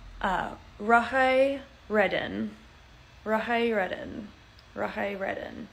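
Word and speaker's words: rathai: And the silent word is the T, or the silent letters are the TH. So Rahai has R, it's like R-A-T-H-A-I. So Ratai, but it's pronounced Rahai.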